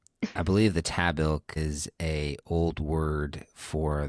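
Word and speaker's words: Tahbilk: The word is tabil. No, it's not. It is. The word is pronounce it one more time.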